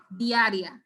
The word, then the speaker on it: diarrhea: this word d-i-a-r-i-a guys where are we going to place the long sound in this word where's the emphasis how is this word pronounced so the stress has to go right in the long zone diarrhea so i want feet